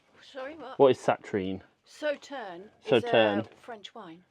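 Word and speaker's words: Sauternes: richly rewarding partnership between Arran single malt and the glorious Saturn. Sauterne.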